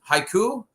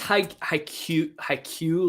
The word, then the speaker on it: Haikyuu: me uh this is haiku no yeah I believe I believe it's haikyuu like with the Y in between the K and the u i my pronunciation is